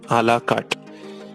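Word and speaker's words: à la carte: एंड I have written आला कार्ट menu and ताबला दोत मेनू। ये French words है। आला कार्ट उसका प्रोनाउंसिएशन है, प्लीज नोट, आला कार्ट, एंड the second one इज ताबला दोत।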